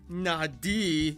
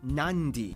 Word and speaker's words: Nadi: Therefore, the town of Nadi is actually pronounced Nandi.